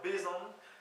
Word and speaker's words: bezañ: le verbe être pour tout ce qui est prononciation encore une fois venez m'excuser j'essayie d'aider donc être en breton c'est le verbe bon B e Z a n ti sur le